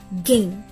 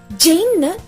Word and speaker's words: gain: Next G as in gain. இதுல letter G G அப்படின்னு தான் pronounce பண்ணணும். G-A-I-N Jain ரீட் பண்ண மாட்டோம்.